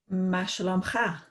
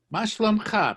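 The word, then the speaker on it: מה שלומך: Ma shalom cha. Ma shlom cha. Perfect. Excellent. You may qualify for the Scottish sweepstakes. Your pronunciation is so good.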